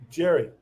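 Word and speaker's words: Gerry: you your story is is it jerry or gary dugan jerry jerry jerry jerry duggan great now i know how to say his name jerry and i know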